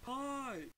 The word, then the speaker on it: pi: a round well-rounded man who wrote this it's pronounced pie three point one four one five nine two